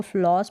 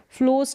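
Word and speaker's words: floss: जो धागा है उसको फिलोस बोलते हैं अब इसको फ्लॉस बोलेंगे ओ को ओ करके प्रोनाउंस किया जा रहा है फ्लोर्स नहीं बोलेंगे इसको फ्लड नहीं बोलेंगे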